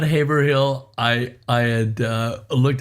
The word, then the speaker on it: Haverhill: uh you you said it right before it's Haverhill but you know what I'll cut you Slack